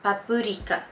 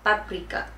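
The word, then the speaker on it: パプリカ: In Japanese it's called paprika, but you have to be really good with your intonation and you have to say every syllable, because otherwise they might not understand you.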